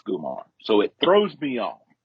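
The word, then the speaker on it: comare: spelled c-o-m-a-r-e but pronounced gumar so it throws me on it's it's starts with the c but it's pronounced the hard g yes that's dope i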